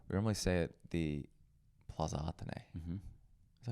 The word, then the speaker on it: Plaza Athénée: We normally stay at the Plaza Athénée. Mm-hmm. Is that how you pronounce it?